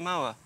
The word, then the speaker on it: Moher: wife the cliffs of moa as in i'm gonna run her over with the mower apparently that's how you